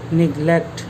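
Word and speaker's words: neglect: 1 number নেগলেক্ট বা বাংলা উচ্চারণটা এরকম হয় নেগলেক্ট।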